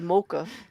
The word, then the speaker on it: mocha: no I said there's multiple ways to pronounce the word and in America we say mocha I didn't say you